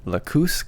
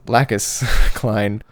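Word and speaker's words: Lacus Clyne: And Athrin is supposed to marry a girl named Lakoose Klein, or some of us may remember her as Lacus Klein. I miss Lacus because that was a way better pronunciation.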